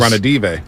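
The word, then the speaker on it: Ranadivé: I always mispronounce his name. Speaking of the Niners. Ranadive.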